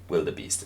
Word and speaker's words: wildebeest: the blue wildebe wildebeest will the Beast is is the correct pronunciation we have to stripe